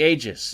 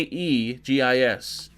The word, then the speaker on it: Aegis: pronounced Eis egis no it's a I say Aegis it's spelled with an a a e g i s a e i o u if it was